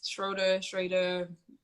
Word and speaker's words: Schroeder: last name is German. So yeah, it's Schroeder. It's pronounced in two different ways.